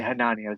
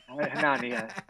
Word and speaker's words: Hanania: Hanania, soft A. Yeah. Like Narnia? Yeah. Hanania.